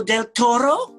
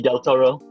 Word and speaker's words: del Toro: I just put G del Toro. A nice, neat abbreviation. Billy? I've done the same. I've put whatever del Toro. Just roll your R's a lot.